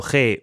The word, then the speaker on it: guet: que me hablaban de G que se pronuncia G pero se escribe g a y no sé si ya